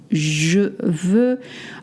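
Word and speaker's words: veux: This is just as an example VV. Uh you will notice it's spelled V u X. You don't pronounce the X.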